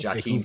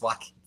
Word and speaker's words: Joaquin: Like, I would always pronounce, like, I would say Joaquin Phoenix when I was a kid because I was like, you have to say J's. My mom was like, no, it's Joaquin. The J's silent.